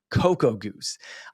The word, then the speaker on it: Cocogoose: And that is spelled Cocogoose. Cocoa Goose.